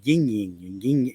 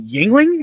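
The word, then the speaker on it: Yuengling: new beer it's called yin Ying she couldn't even say it like you mean Yingling and she goes yeah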